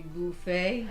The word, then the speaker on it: Buffett: Kind of like bucket versus bouquet. It's bouquet. So yeah, it's Jimmy Buffet, not Jimmy Buffett.